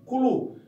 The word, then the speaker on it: Cthulhu: Em inglês, CH não se pronuncia com tanta facilidade, então isso se pronunciaria, eles chamam nos Estados Unidos de Cthulhu, mas como a língua